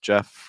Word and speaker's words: Jeff: Jeff rhymes with breath, which is one of